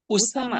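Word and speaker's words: أسامة: উসামা। উসামা তু, উসামা। যদি আপনি বাংলায় ওয়াকফ করে পড়েন তাহলে উসামা, এই গোলতাটা তখন হা হয়ে যায় ওয়াকফ নিয়ম অনুযায়ী।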